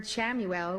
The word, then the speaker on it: Chamuel: The word Shamuel, which is spelled C H A M U L, means he who sees God.